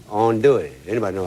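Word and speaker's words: andouille: n d o u i l l e Ono it anybody know how to spell that bro his voice already got me his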